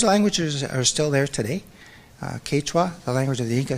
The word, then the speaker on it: Quechua: were speaking the main language was a quick Quechua forgive me if I'm pronouncing that wrong but it's spelled qu e